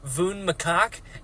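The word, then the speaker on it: Vun Makak: I mean, it's spelled like Vun Macaque, maybe? But Michael Kramer pronounces it as Voon Makak, and I am 12 years old, apparently.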